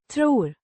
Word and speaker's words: tror: Pronounced Tror. with the O. sounds like in more.